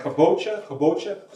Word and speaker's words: Kabocha: Again, it's Kabocha Squash. That's spelled K-O-B-O-C-H-A.